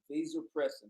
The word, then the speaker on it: vasopressin: in particular get get they depress it okay vasopressin that's the correct pronunciation you guys have heard me talk about